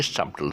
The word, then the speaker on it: subtle: Okay, subtle. So it's not, the B is silent. It's subtle. And the word dumb.